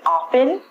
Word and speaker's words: often: America people would say open I'm inclined say often it's your choice from this lesson if you want to say open the T is silent